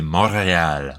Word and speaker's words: Montréal: Mais en français, c'est Montréal, like the real mountain.